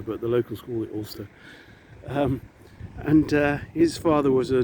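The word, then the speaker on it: Alcester: was born in uh ulster in warwickshire um if you ever want to go and visit that village it's spelled all cester but the local school at ulster and his father was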